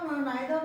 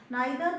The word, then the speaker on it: neither: कि ये आइदर और नाइदर नॉर ऐसी चीजें, देखो इसका इधर और भी प्रोनाउंसिएशन होता है और नाइदर नॉर भी इसका प्रोनाउंसिएशन होता है। दोनों एक्सेंट अलग अलग है, ब्रिटिश और उसमें, तो हम लोग जब